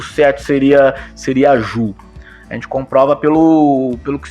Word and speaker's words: Ju: Então, Jujutsu seria a arte suave, a técnica suave, e Judô seria caminho suave, né? Então, através disto, a gente comprova que sim, né? A primeira sílaba da arte marcial japonesa seria Ju e não Jiu, como se, digamos assim, né, se ocidentalizou, né?